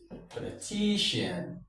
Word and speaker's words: politician: So, we have I and ear, the stress falls on ti. So, we go this way po li ti politician. Is it politician, politician, politician, politician? The stress falls here. Why? Because ti, ti is the penultimate syllable.